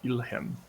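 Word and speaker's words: Ildhjem: And you know the volcano is also known as Ilhem. Ilhem, which means fire home. And how would one spell that if they were to write that down in their notebook?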